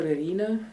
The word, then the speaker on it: Irina: and might be a little bit difficult to pronounce i respond to uh dr erina dr or simply as one of my